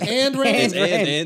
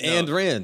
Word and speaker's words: Ayn Rand: I thought it was And. Oh, it's And Rand. And Rand. Yeah. It's just an ampersand with a Rand on it.